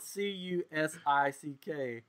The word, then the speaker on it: Cusick: Henry's last name is spelled Cusick. Yeah. And John's is spelled Cusack. One sick and one's a sack.